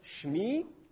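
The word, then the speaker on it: שְׁמִי: tombe il il tombe on va pas dire Chemie on va dire chemi si vous avez fait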